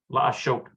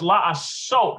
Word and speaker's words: לעשות: Lashot. Yeah, to do. לעשות. Oh, it's la'asot. That's right. Because the superlinear dot here means that is a scene, not a sheen.